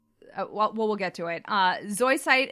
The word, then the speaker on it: Zoisite: we'll get to it Zoi site is technically pronounced SOI Saito in Japanese and the deep dub